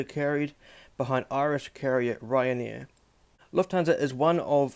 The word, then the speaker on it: Lufthansa: So really, the name Lufthansa, Lufthansa or Lufthansa, or however you pronounce it, is actually pronounced Lufthansa.